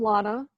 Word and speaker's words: Lana: please go ahead hi you pronounce my name Lana rhymes with Donna one of my fondest